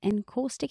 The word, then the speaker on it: encaustic: Glass, stone and encaustic. Encaustic, is that how you say it? Yes.